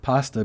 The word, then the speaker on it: pasta: moved to canada and heard the first syllable of pasta being pronounced pass and not with the vowel of paw like i was used to it was certainly